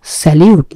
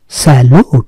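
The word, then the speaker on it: salute: স্যালুট, স্যালিউট না, স্যালুট।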